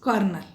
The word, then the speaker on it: colonel: But these both words are being pronounced as kernel.